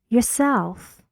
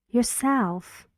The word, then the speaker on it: yourself: Yourself. Yourself. 2 syllables. Where's the stress? Self. Yourself. And it goes with all these similar words like himself, herself, themselves. You see? It goes on self.